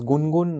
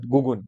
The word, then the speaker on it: Gungun: Sir, it is Gungun, not Gugun.